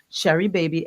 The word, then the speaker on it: Sheribaby: So you just go in and you just ask them for Sherry Baby. S H E R I B- A B Y by Sharon Gordon. And it's spelled the same way it sounds, Sharon Cordon.